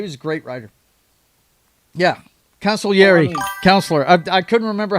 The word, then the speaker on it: Consigliere: Yeah, Consigliere, counselor. I couldn't remember how to pronounce it, buddy.